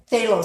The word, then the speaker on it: phthalo: It's actually says green shade phthalo blue, and phthalo starts with a PH, but it's pronounced like a TH.